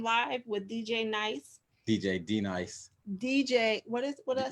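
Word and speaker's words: D-Nice: You said what the people on CNN said, DJ Nice. I've been listening to a video. They've been saying it wrong.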